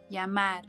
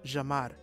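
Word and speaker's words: llamar: Northern Santa de departments Double L is pronounced as J and Y is pronounced as for example the verb meaning to call is yamar will be pronounced as Jamar to say I it's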